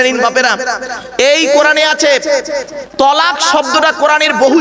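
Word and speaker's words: طلاق: চিন্তার কোন কারণ নেই অনেকে ভয় উচ্চারণ করে না তালা কি বলে কি বলে বাবা তালাক শব্দটা তালাক নয়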